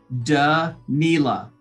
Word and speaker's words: Danila: i am super excited to connect with da nila i hope i said that right did